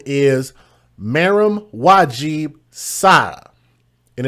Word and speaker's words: Maram: Her name is Maram Wajib Sada. And it's spelled M-A-R-A-M.